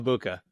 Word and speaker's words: Egbuka: How dare you, Emeka Egbuka? Did you And see the and just for people who don't know, the G is silent. It's Emeka Egbuka. Emeka Egbuka?